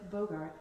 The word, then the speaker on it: Bogert: So you guys, a lot of you know who Ted Bogert is. You got it. You did it. I did. It rhymes with yogurt.